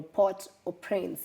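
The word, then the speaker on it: Port-au-Prince: they've taken over the port of Prince or port or Prince if you want to pronounce it the French way and they've destabilized the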